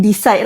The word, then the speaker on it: Theecide: So we cut off separuh dia jadi decide lah macam tu. So it's pronounced as decide. Decide as in decision decide.